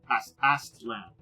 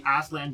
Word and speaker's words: Aztlan: We're diving once more into the 6th world, into Shadowrun, and today we're heading to Aztlan. Aztlan? I never say it like Aztlan.